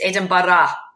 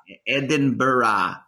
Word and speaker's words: Edinburgh: your path first off i'm going to have to teach you how to say the word you know the the city edinburgh it's edinburgh come on tom edinburgh anyways um yeah you